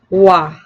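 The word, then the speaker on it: は: it is pronounced like wa. I'll repeat, if you see the syllable ha, it is pronounced as wa.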